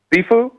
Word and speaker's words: shifu: Am I pronouncing it right? How did you become a shifu? Did I say it right? Shifu?